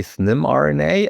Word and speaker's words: SNIM RNA: Yeah, we usually say SNIM RNA and it's an acronym standing for stabilized nonimogenic messenger RNA.